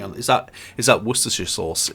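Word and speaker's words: Worcestershire: Worersha sauce is from Worersha in England. It's Worersha sauce.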